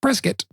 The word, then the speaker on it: Prescott: Uh we I take it out to Prescott, Arizona, which is spelled Prescott, but apparently pronounced Preskitt.